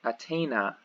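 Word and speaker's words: אַתֵּנָה: this is attain, attain, and atena, atena. So again, the accent, the stress is here, atena, as opposed to the normal, normally it's on the last syllable.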